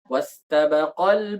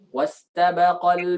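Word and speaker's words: واستبقا: Jadi untuk memberikan isyarat itu kita berikan nabr, kita tekan. Jadinya wastabaqal baba wa qaddat qamisah, bukan wastabaqal baba, bukan seperti itu ya.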